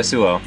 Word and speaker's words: Suo: Yeah, Suo. Yeah, now is when I'm going to be mispronouncing names.